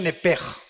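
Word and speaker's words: נפש: Se pronuncia nepej.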